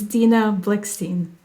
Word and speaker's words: Dina Blikshteyn: to ask you to just um confirm the pronunciation of your last name, please. Sure. It's Dina Blickstein.